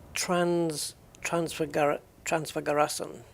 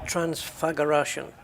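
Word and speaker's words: Transfăgărășan: Transfagaration. Okay, so the S is pronounced like a shirt. Transfagaration.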